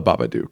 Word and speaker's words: Babadook: I should probably pronounce the names correctly. I just have my notes. So it's the Babadook, right?